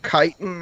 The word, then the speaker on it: chitin: Oh, silver chitting or chitin. Somebody said we were saying it wrong this whole time. Is that better? Silver chitin, I think is how everyone was saying it. Yeah, it's much better.